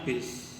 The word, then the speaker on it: bus: umum bus dan kereta tulisannya bus Tapi bacanya bis ya atau di kota itu